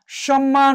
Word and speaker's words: সম্মান: মফলা উন্মাদ উচ্চারণ হয়েছে, ময়ের সাথে মফলা সম্মান উচ্চারণ হয়েছে, লয়ের সাথে মফলা গুল্ম।